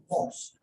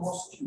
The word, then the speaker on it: mosque: How do you pronounce the word? Mosque. Right? Mosque. It's not Moscow, although it's Japanese.